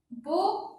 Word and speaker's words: beau: Beau, on n'a pas le O. D'ailleurs, le mot beau contient une seule syllabe. Beau, il y a une seule syllabe. Une seule. On a le E, A, U.